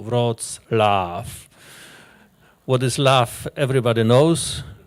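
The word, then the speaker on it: Wrocław: press Lao Breslow preslavia nowadays it's called vrozlaff and there was a there's a proper pronunciation of this name there is Love Inside us as you probably know rods laugh what is love everybody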